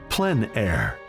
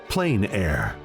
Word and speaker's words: plein air: open air or Outdoors the French pronounce it plan air others say plain air no matter how you